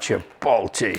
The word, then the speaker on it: chipotle: Oh, look at that chipotle sauce in there.